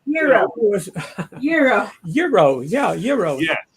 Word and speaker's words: gyro: A gyro, as most people would say, but it's actually pronounced Euro.